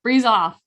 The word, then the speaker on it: Bruesehoff: its ass mom of three and i'm gonna pronounce it right because we talked about it frieza off how'd i do breeze off i did it great i'm impressed that i